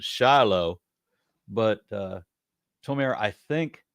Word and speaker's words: Shiloh: Okay, so Americans pronounce it Shiloh, but Tomer, I think, pronounce it Shiloh.